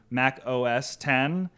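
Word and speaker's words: Mac OS X: mispronounced the X in Mac OS 10 they pronounced it as an X instead of a 10 and so the joke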